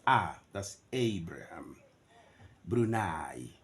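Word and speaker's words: Brunei: not a that's Abraham brunai not brune no brunai Switzerland you can consult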